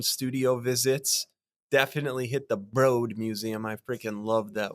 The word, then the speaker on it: Broad: said uh hey my name is gonna be pronounced broad because I'm not a freaking Broad and so he changed the pronunciation of his last name oh but it was broad yeah but he changed it you know when